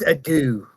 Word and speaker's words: Ardu: There's Ardu the Smith. There's Ardu the Smith, and there's also. See, I pronounce that as Adu.